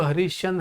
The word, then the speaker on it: हरीशचंद्र: तो कैसे पढ़ाई आएगा, ये हरीश चंद्र ऐसे पढ़ते हो क्या, आप क्या बोलते हो, हरीशचंद्र। मतलब ये श को जब आप प्रोनाउंस करते हो तो इसमें अ की ध्वनि नहीं जोड़ते हो।